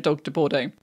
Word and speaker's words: Dogue de Bordeaux: Well, literally as it looks, the dog de Bordeaux. That's how you say it. It's literally dog de Bordeaux.